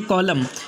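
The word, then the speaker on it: column: इसके बाद का नेक्स्ट रूल है 13वां, जब एम के बाद एन आ जाए तो एन को नहीं पढ़ा जाएगा।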